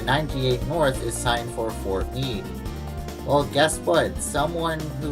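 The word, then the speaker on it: Fort Meade: the 17 series video accidentally pronounced this as for mod well let me tell you something that person it's pronounced for me here is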